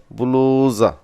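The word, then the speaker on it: بلوزة: ব্লাউজকে আরবিরা এইভাবে উচ্চারণ করে বুলুজা।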